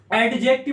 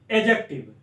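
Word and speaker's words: adjective: अब parts of speech के 8 types बताए थे, जिसमें मैंने बताया था नाउन, प्रोनाउन, एडजेक्टिव, एडजेक्टिव नहीं बोलते हैं, एडजेक्टिव, एडजेक्टिव, वर्ब, वर्ब नहीं बोलेंगे, आर साइलेंट हो जाएगा, वर्ब, प्रेपोजिशन, प्रीपोजिशन नहीं बोलते हैं, प्रेपोजिशन, प्रेपोजिशन, कंजंक्शन और इंटरजेक्शन।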